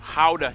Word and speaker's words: Gouda: And the pride and joy of the nation, Gouda cheese. Yep, that's how you pronounce it, guys.